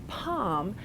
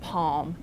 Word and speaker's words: palm: it back in so you have some speakers who have the older pronunciation palm and almond but then speakers like me who've put the L back in and have palm and almond and sometimes